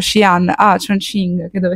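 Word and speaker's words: Xi'an: portato da shian perché abbiamo scoperto che si pronuncia shian a CH ching che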